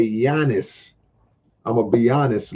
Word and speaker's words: Giannis: is Milwaukee Bucks best player his name is Giannis so it's all in the pronunciation I said I'mma Be I'mma Be Honest I'mma Be honest be honest but you say yanis I'mma Be Honest like a hoop of Milwaukee